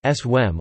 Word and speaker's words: Sawm: in Islam, known as Saum (Saum Arabic pronunciation: Swem) or Siyam (Siyam Arabic